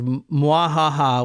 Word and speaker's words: mwahaha: She's pouring it into a water sprinkler, and then the bottom stick figure says "Mwahaha," which is Laughing. MWA. Should be pronounced like mwahaha. Yeah, mwahaha or whatever, like a Bowser laugh.